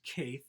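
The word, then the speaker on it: Caethe: leacock casey ezell vivian i believe it's pronounced kath at c-a-e-t-h-e if i pronounced it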